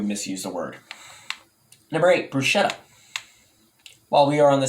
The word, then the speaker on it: bruschetta: so which pachetta bruschetta so the correct way to say these yummy treats is bruschetta really it's bruschetta not